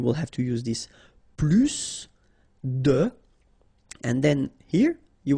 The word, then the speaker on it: plus: I will be um there is a strange thing in French language with this plus okay because in some cases you will have to pronounce the final s and in other cases you won't.